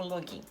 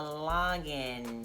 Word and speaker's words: login: que vai fazer um login. Primeiro não se fala login, você fala lógin... é um o aberto lógin, e você não faz um login você não do or make a login, não.